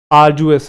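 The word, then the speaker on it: arduous: याद आ जाएगा आरजुएस इसके अंदर ड वाला हल्का सा आता है आरजुएस ड बोलते हैं डी साइलेंट नहीं होता आरजुएस हल्का सा साउंड रहता है बट बोलते हैं आरजुएस एक एडजेक्टिव है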